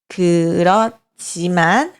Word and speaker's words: 그렇지만: Escrever como 그렇지만, mas pronunciar como 그렇지만, né?